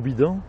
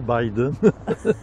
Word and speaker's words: Biden: viens-tu de la série Joe Bidon au Oui, Québec? les enquêtes de Joe Bidon. Ben oui, Joe Bidon, c'est Joe Biden. Ben, on le prononce habituellement Biden, pas Bidon.